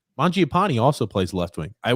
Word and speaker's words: Mangiapane: Grump, how do I pronounce this name again? Mangiapane.